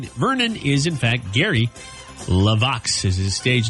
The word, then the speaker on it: LeVox: to but didn't say it right it's Gary laox Gary Wayne Vernon is in fact Gary levox is his stage name what did I say